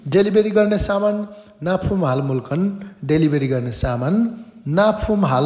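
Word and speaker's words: 물건: त्यो ल लगत्तै माथि ग आयो भने चाहिँ क उच्चारण हुन्छ, त्यही भएर मुल्कन भनिएको है त।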